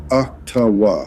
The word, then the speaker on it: Ottawa: It's pronounced Ottawa, okay?